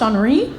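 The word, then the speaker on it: Henri: her and i said actually it's pronounced honoree they're all doing fine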